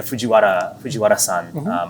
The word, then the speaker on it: Fujiwara: Tokuro Fujiwara. Excuse my pronunciation. No. I just No. I lived in Japan so long. I just pronounce it kind of like as a native. But yeah, Fujiwara-san.